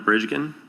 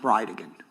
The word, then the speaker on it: Bridegan: It's Jared Gallen Bridgeen. And I'll represent to you that it's pronounced bride again.